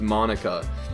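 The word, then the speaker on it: Monika: like you why is like well I would Monica not like he could be so shocking besides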